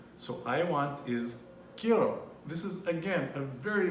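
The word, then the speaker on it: quiero: i e r o so i want is kiro this is again a very very important verb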